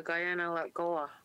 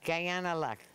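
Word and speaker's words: Kaianere'kó:wa: you say it Janelle I believe it's the Guyana let Goa yeah yeah Guyana luck yeah if we learned Mohawk phonetics we would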